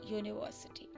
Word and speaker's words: university: Now you will see the university here, it is beginning with a vowel, but the sound is of consonant y. Now why? The consonant sound is y, not a. So we will pronounce it as the university.